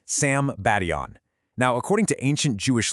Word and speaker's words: Sambation: All right, so let me introduce you to the Sebastian River, and that's pronounced Sam Badon.